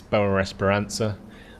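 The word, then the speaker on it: Boa Esperança: And I've figured out that that is Boa Esperanza, not Boa Esperanza.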